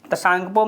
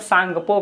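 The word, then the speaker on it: Tsangpo: वो ये तसांगपो मतलब सांगपो कहते हैं, टी साइलेंट रहता है उसमें, ठीक है, उसको सांगपो नदी कहते हैं।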